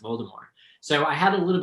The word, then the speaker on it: Voldemort: is it voldemort right are you going with the french pronunciation and if you ask